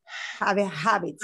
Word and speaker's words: habits: So the only word I would say here is habits. Habits. Okay. Habits. So in Spanish, we wouldn't pronounce the H. Yes, in English, we have to.